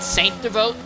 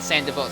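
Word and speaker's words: Sainte-Dévote: starts opening the Gap again I know it's pronounced it said saint devote but it's I he always here called sand devote so that's why I end up saying Sandoval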